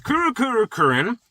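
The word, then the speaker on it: Kurukuru Kururin: And last is Kurukurukurin, which is exactly how you pronounce it.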